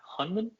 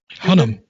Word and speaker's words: Hunnam: with uh once again i'm mispronouncing his last name but charlie hunman hunnam yeah there you go charlie hunnam from sons